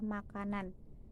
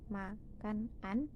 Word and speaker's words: makanan: Saat kata makanan diucapkan bukan menjadi makan an, melainkan akan diucapkan menjadi makanan.